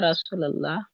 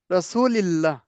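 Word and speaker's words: رسولِ الله: বলেন বিসমিল্লাহি বিসমিল্লাহি ওয়াসসালাতু ওয়াসসালামু আলা রাসূল্লাহ। রাসূলিল্লাহ।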